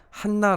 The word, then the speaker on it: 한나: 하는 여 예언자가 있었어요 우리가 이 안나가 한나 라고 읽는 것이 옳다는 것을 주일 예배 때 우리가